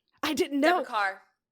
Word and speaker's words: Deborah Kerr: Deborah Kerr actually went by Deborah Carr. It's car. It makes no sense. I thought it was car.